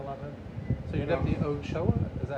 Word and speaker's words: Ochoa: So you're Deputy Ochoa, is that how you say it?